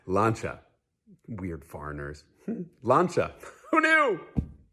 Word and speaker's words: Lancia: out it's pronounced focaccia because cia in italian is shaw and nazia which means that lancia is actually pronounced lancha weird foreigners lanza who